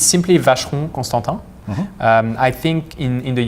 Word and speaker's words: Constantin: they really struggle with the of vegetable and at constant R is you know you stop you stop there within the last um and not an e at the end yeah another - man